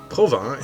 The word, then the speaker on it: Provins: Provins is about an hour and a half by train from Paris. Like most names in French, the S is silent.